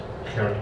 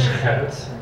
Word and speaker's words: Gerrit: I would have loved to talk about a Dutch writer who's completely unknown in the United States, Gerrit Kroll.